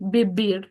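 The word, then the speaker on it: vivir: Remember, in Spanish, you can pronounce the V as B or you can conserve the V sounding. So, I typically say Bir because that's how I learn Spanish in Mexico.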